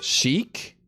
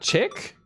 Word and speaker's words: chic: We had to go to the school and pick up Lucian since he tried to It pronounced chic, not chick.